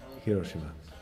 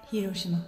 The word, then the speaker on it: Hiroshima: How would they actually say it? Hiroshima. Hiroshima. Hiroshima. So there's no accent really on any of the syllables. Hiroshima. It's usually stress-free. Like they're all. We anglicized it.